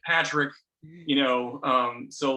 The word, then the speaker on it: Patrick: or something, like, because people say that name pronounces Patrice, and I'm like, and I don't want to like self-identify with that. I'm like, no, it's Patrick, you know.